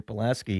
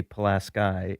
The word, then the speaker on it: Pulaski: It's Kashmir Pulaski. Yeah. But if you go to that county, they say Pulaski, and they will tell you that's how we know you're not from here if you say it right.